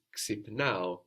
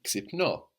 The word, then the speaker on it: ξυπνάω: I wake up is ξυπνάω, ξυπνάω. Ξυπνάω. So again, we have a verb ending ao, no, like agapao, milao, ξυπνάω, with its accent on the ending. Which of course means we'll also find ξυπνώ.